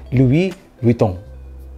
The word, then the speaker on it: Louis Vuitton: Jadi kalau diucapkan dalam lidah Perancis tuh agak ribet juga ya. Jadi Louis Vuitton gitu. Jadi kayak tapi di M-in terus kayak Louis, jadi S-nya nggak dibaca gitu.